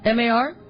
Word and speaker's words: Mar: M A R. Yeah, it's Mar because she um requested a song that we'll play next week and she even said it's pronounced like the verb to scuff.